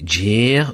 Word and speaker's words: guère: Alors, guère, en galop, vous allez le prononcer jer ou ben hier.